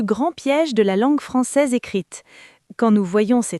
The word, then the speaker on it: française: Elle est française, S réveillé.